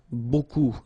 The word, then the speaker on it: beaucoup: Remember, you don't pronounce the final P, okay? And then you get this combination of vowels, E, A, U, and you get the sound O. So technically it's beaucoup, okay?